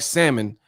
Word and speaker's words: salmon: said y'all smelling like salmon and i hate y'all that pronounce the l talking about some salmon bro y'all got salmonella